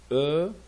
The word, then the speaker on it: heure: content content ra vie on prononce jamais le h ne prononce jamais le h heure en france et 6